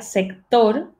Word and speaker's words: sector: Sector, bueno, en español se pronunciaría sector, udareñe toetuk, ok, sector en búlgaro.